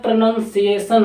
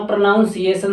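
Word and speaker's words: pronunciation: अब वैसे बात करें प्रनंसीएशन होता है की प्रनंसीएशन काफी लोग कहते हैं अपना प्रोनाउंस केशन सही करो प्रणाम सेशन जो की गलत वर्ड होता एक्जेक्टली होता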